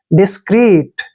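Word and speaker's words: discreet: देखिए डी आई को हम क्या पढ़ते हैं? डी, ठीक है ना, और एस को क्या पढ़ते हैं? से, और सी का उच्चारण क, ठीक है, और आर का उच्चारण रे। डबल ई को बड़ी की मात्रा पढ़ेंगे और टी को टे। डिस्क्रीट ऐसे पढ़ना है, डिस्क्रीट।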